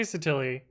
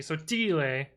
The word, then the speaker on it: Sottile: I say Sottile, but it would be Sottile in the true Italian, but I'm fake Italian. So I don't understand how this is one greater than the actual value. We should always have start with 0. Fine. Sottile, yeah. Yeah. It rhymes with so silly, indeed.